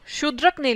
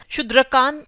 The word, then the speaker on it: शूद्रक: इस प्ले को शूद्रक ने लिखा था। शूद्रक, शूद्रकान कहना चाहें तो that would be like the anglicised pronunciation, but इसको हिंदी में या संस्कृत में शूद्रक बोलेंगे। इन प्ले राइट का नाम